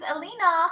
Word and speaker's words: Elina: me clearly thank you uh I did you pronounce correct your name Elena yes my name is Elina how about your names what's your name my